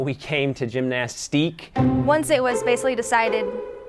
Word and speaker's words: Gymnastike: I think I wanted the French spelling, like IQUE.